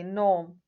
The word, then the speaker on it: gnome: We say gnome, silent G.